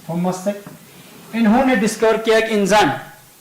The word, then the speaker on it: Cech: when a scientist namely Thomas Sachs, या Thomas सेक कहेंगे आप, जो भी इस तरह से प्रोनाउंस करेगा, थॉमस सेक, CECH, थॉमस सेक, इन्होंने डिस्कवर किया एक